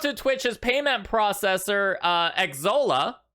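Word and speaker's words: Xsolla: twitch's payment processor uh exola i think that's how you pronounce it it's x-s-o-l-l-a uh to see if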